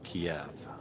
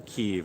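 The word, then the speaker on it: Kyiv: good for kia kiev which we call used to call in english kiev which is the russian pronunciation the ukrainians are saying pronounce the key of out of respect for our language and our capital so keep uh but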